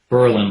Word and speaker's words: Berlin: missing from Berlin Connecticut Berlin like the one in Germany pronounced with the accent between syllables like Pearl and preposition and God forbid local residents hear you pronounce it the other way ours was a nice